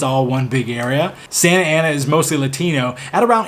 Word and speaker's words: Santa Ana: Number 7 is Santa Ana, or Santa Ana if you don't live in California. We don't pronounce the T's out here.